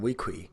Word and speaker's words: Weequay: Well, if you Quuay is pronounced key. So wouldn't that be Weequay then?